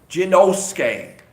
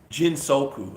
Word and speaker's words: Jinsoku: Jinosuke. I always say your name wrong and I feel bad. Jinsoku. I said Jinosuke. I'm sorry, Jinsoku.